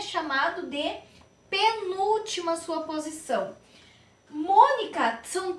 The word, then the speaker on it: Mônica: Mônica. Qual é a sílaba mais forte desta palavra, pessoal? É Mônica. Mônica. Se eu disser Monica, não é. Está incorreta.